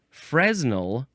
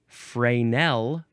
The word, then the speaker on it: Fresnel: Um, it is either fresnal lens or frenel lens. And I always heard it as frenel.